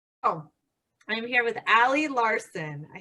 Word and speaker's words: Ali Larson: Oh, I'm here with ALI LARSON.